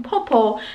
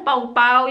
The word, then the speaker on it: popo: And buti na lang, dala ko yung aking popo. Kala ko pau-pau, yung pala popo. Popo yung tamang pronounce.